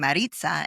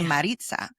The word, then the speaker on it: Marisa: before we started recording you were saying my name Maritza and it's supposed to be Marita but you know I